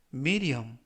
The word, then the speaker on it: medium: 뜻이 되겠습니다 이번 표현은 미디엄 미디엄 미디엄이라고 발음하시면 되겠구요 이때 유의하실 점은 알파벳 d가 여름에 의해서 드가 아니라을 그래서 미디엄이라고 발음하시면 더 좋겠습니다 품사는 형용사 뜻은 중간의라는